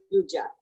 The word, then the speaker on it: Guggia: It's Guggia. So Guggia is how we say it.